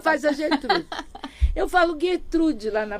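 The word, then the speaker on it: Gertrude Stein: Eu falo gettrude lá na P. Então, mas é porque em Paris, né, a pronúncia é Gertrud Stein.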